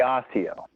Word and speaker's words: Osseo: high school in kansas city it would be osseo yes yeah you're in i actually was in